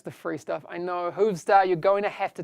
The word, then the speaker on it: Hoovstar: Again, that is Hoovstar, H-O-O-V star. I have to pronounce the R at the end, because usually I'd say Hoovstar. Star like a pirate, because that's how Americans talk, all pirates.